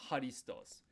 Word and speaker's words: ハリストス: Christos Christos Christos So it's like a K and H mixed together. Christos something like something like that. And if you actually make that sound in your voice, go ahead and give it a shot now. Christos It's actually the same location in your throat where this H sound is coming from, so that's why it's Harisutosu. Harisutosu Christos Christos Christ That's